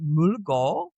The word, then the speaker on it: Mølgaard: So I actually have a Danish last name attached to the Conti Molgard which is pronounced in Danish as pronounced as Mulgo which took me six months of Danish lessons to learn.